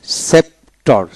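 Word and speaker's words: sceptre: এল সিনিকল সিনিকল সিরচন হয় নাই তারপর আসেন সেপটর এস সিই পিটি আর সেপ্টার অর্থাৎ এিপি সে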